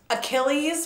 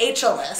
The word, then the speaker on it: Achilles: was the answer yeah he kept saying it wrong right and and the whole word was already spelled out like he didn't have to guess he said ageless you see this but